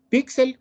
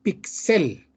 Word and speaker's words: píxel: Píxel o píxel. El término que se refiere a punto de luz mínimo que forma una imagen digital se ha incorporado al español con dos acentuaciones válidas. Píxel, pronunciación pixel, ¿verdad?